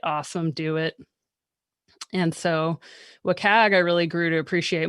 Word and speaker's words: WCAG: As I said, I've heard that it's like a trivia, or not a trivia question, but like a, how do you pronounce it? I call it WCAG.